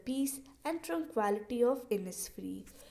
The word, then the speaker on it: Innisfree: और जो हमारा लास्ट वर्ड है जो कि आपको थोड़ा सा डिफ़िकल्ट लग रहा होगा, इसको हम प्रोनाउंस करते हैं एज इनिसफ्री।